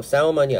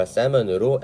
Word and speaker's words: salmon: 참고로 salmon이 아니라 salmon으로 L은 묵음 처리가 됩니다.